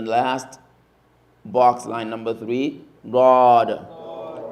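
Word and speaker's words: ض: And the last box line number three, God. God, God. God, God. So that is pronounced from the side of the tongue.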